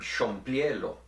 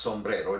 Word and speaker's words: sombrero: For instance, then, in Tetelcingo you could get the word sombriero, but in Orizaba it would be pronounced sombrero, just as it normally is in Spanish.